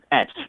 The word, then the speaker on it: Esch: Etch. Okay, like Etch-a-Sketch.